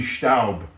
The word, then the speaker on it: Staub: stop stop isn't it how do you pronounce it stab but the german origin could be staub yeah but in english you'd say stout uh yeah it's a bit awkward it's a bit of an awkward pronoun s-t-a-u you know it's a bit awkward to pronounce now can you hold